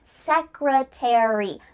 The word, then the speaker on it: secretary: Well, in this case, a r y at the end of words is going to indicate that in American English, we're going to pronounce the full word. Library, secretary, military.